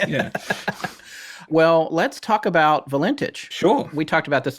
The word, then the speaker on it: Valentich: Well, let's talk about Valentich.